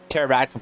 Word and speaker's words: pterodactyl: can't you hear a pterodactyl p because the p is silent that's so good such